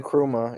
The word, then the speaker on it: Nkrumah: So it's the exact opposite of what Gaddafi was trying to do with Pan-Africanism, or Nkrumah. Is that how you pronounce the Ghanaian's name? Yeah, Kwame Nkrumah.